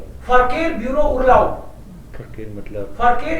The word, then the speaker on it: Verkehr: Verkehr. हाँ. Verkehr. फर. Verkehr. फरकेयर. Eight silent.